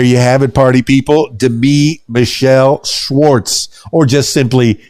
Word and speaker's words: Demi: You are somebody special, Demi Michelle Schwartz. And thanks for the correction on your pronunciation of your name. That's right. I put the wrong emphasis on the wrong syllable. It's not Demi, it's Demi.